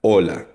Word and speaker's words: hola: So again, ang titik H or letter H or H sa Spanish ay silent or muda. Hola, hindi siya hola, hola.